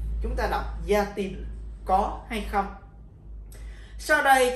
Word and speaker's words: Y a-t-il: Chữ t được đặt chánh giữa nguyên âm a và il để tránh trường hợp hai nguyên âm nằm gần nhau và để dễ phát âm. Chúng ta đọc yatil, có hay không.